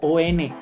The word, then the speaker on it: en: Esa EN famosa se pronuncia, recuérdenlo muy bien, se pronuncia como ON, no es EN.